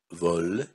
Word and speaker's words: veau: Значит, тогда трифтонг Э, А, У, буква сочетания Э, А, У произносится как глубокое. О, О, Ле, Во и В.